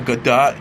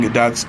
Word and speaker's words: Gadot: Jones says, "Gal Gadot, you can't do that. We have rules here." Mispronouncing Gadot's name after Bennett is seen flying into the audience seats. Day says, "It's Gal Gadot," before Johns mispronounces his name, exclaiming, "Shut up, Marky."